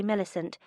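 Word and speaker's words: Millicent: It's properly milisant, but as a child I could never pronounce it.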